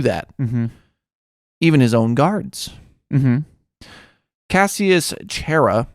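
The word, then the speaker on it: Cassius Chaerea: even his own guards cassius chera i think is how you say his name was a tribune of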